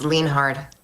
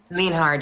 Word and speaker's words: Lienhard: Of course, it's Lienhard. Linhard, you said? Lean hard, yes, exactly.